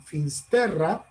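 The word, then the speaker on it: Fisterra: la llamaban los romanos, en latín se pronuncia Finisterre, en galego, en el idioma de Galicia, le llaman Finsterra.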